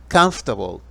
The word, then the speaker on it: comfortable: estudiantes de inglés es comfortable comfortable comfortable suenan tres sílabas y significa cómodo y